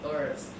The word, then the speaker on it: herbs: So this pronunciation is herbs. Americans don't pronounce the H.